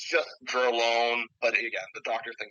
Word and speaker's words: Dr(L)one: I create music under the artist name Dralone. It's spelled D-R apostrophe L and apostrophe O-N-E. You know, really convenient, but it's a play on drone and loan, so it's Right.